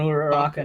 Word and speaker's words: Uraraka: Yeah, it's supposed to be Uraraka, her and yeah. Deku. Like there should not be another one. Nah, they want Bakugo and Uraraka now apparently.